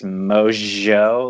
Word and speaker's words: Mongeau: a point to like find out how it was really pronounced it's mojo like you know yeah